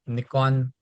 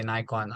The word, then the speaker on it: Nikon: mirrorless camera are equipped by Sony's sensor so Nikon or as people say Nikon I don't know whichever way You' like to pronounce it they they normally use Sony sens